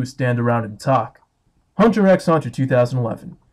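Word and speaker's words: Hunter × Hunter: Hunter x Hunter 2011. Yes, you are supposed to pronounce the X, I checked.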